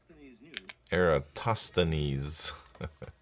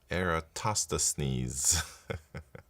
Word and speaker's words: Eratosthenes: know this, but this is how Eratosthenes is pronounced. What is this, man? Tostanies. I don't know if you guys can hear that. Eratosthenes Enough stuff. Thank you very much for the prime subscription. Eratosthenes I'll just say it like that because that's